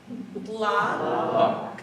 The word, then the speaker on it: Lacombe: The emphasis, to help you out, is on the first syllable. So if we could say this together, Lacombe.